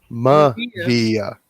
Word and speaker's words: Mavea: Mavea? Mavia. Mavia. Say it like you're in Hawaii. I've never set foot in Hawaii. No, when Hawaiian language. Okay, consonant vowel, consonant vowel, consonant vowel.